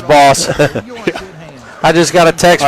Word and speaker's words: Baas: is a boss but that's how you pronounce it as boss i just got a